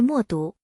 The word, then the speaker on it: 冒顿: 另一个与少数民族相关的复姓是莫毒。